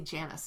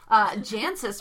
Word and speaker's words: Jancis: Janice, or excuse me, I always want to say Janice, and I did for years. Jancis Robinson's Oxford Companion to, I have like how many of her books up there, and I can't say her name right.